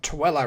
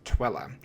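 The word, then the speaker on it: Tooele: And I may have pronounced Tilla wrong 17 times, but the locals were still polite. And don't worry, I got corrected a few days later when I visited some of my friends from Broken Arrow when they explained the correct way to pronounce Twilla.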